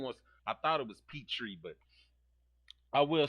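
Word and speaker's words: Pitre: Petri. Petri. Thank you. Thank you. is I knew I knew it wasn't Pinter. I didn't want I thought it was Petri, but I will say this is that um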